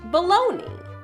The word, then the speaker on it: bologna: on taste and texture was spelled like the town bolognia but was pronounced baloney so how did a